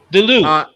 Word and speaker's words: Duluth: Pronunciation. Duluth.